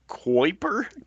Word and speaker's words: Kuiper: SpaceX program is doing it, and the Amazon's Project Kuiper, Kuiper, uh, Kuiper, Kuiper they're is how you heavy, pronounce it.